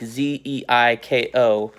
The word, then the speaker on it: Zyko: His name is spelled Zyko, like Zeiko, but his online handle is Dr.